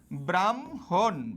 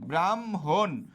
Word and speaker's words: ব্রাহ্মণ: একটা হম তাহলে এটা উচ্চারণে কি হবে এটা উচ্চারণ হবে এরকম ব্রাহ্মণ ব্রাহ্মণ ব্রাহ্মণ ন এর নিচে একটা কি হসন্ত মনে